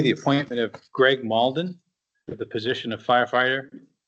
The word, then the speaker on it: Malden: And now on to D, the appointment of Greg Malden to the position of firefighter. Did I pronounce that correctly? Malden.